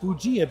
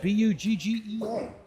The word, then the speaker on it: Buggea: Pronounced Buggea, Buggea.